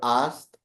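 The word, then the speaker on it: Arzt: आपको डिस्क्राइब करना है, कैसे बोलना है, क्या प्रोनाउंसिएशन रहेगा. So let's get ahead. Doctor in German is going to बी आर्स्ट.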